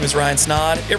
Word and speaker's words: Snaadt: My name is Ryan Snaadt. It rhymes a lot, and you're listening and watching the Rhymes with Odd podcast.